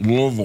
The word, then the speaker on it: Louisville: You don't say it Louisville, you say it Louisville.